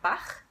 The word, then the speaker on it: Bach: So some of you know the composer Johann Sebastian Bach. So now you know how to pronounce his last name. Maybe you knew before, but anyway, now you know that there's a rule behind the ch sound in Bach, okay?